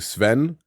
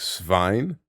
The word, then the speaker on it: Svein: So like I was saying Sven, but it's meant to be something like Svein. That's how you meant to say it, or something like that.